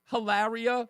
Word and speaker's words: Hilaria: Um, is she is she like is it I'm almost certain her name is Hillary and she pronounces her name Hilaria which I thought it was a joke.